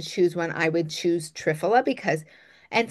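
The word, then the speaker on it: triphala: Um out of those, if I were going to choose one, I would choose trfola because and some people pronounce it trfala. It it doesn't matter, but um that is a balanced formula.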